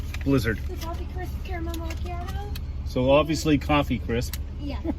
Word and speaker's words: macchiato: Can I get one of those caramel macchiato blizzard? What size? How about small? Is that how you pronounce it?